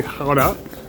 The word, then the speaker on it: Gouda: Today we're in Gouda, or as the locals say, Gouda, and we're off to the cheese market.